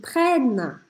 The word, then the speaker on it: prennent: Como a gente tem dois N's no meio da palavra, o som anterior a esses dois N's fica mais aberto. Por isso eu não falo prene, prene. Eu falo prene, sorrindo. Prene, prene. E também, quando a gente tem verbos, eu não vou pronunciar o ENT no final. Por isso eu interrompo o som na letra N.